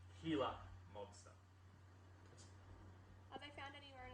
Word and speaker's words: Gila monster: them gila monster or guyla monster not the g is silent so it's healer monster are they found anywhere